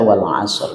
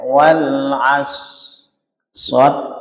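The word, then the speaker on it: والعصر: Jadi bunyinya itu jangan sampai wal as shad terus rnya hilang. Gak boleh. Gak boleh juga dibaca wal asr juga gak boleh.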